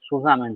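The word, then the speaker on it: zusammen: And the Susamen, this is pronounced as Susamen, this is a German word, and it is pronounced as the Susamen.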